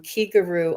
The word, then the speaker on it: Kigaru: the same syllable as the key in Reiki it means spirit and uh